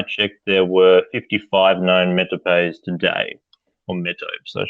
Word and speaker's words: metopes: Obviously the metopes, we'll use the Anglo-Saxon pronunciation.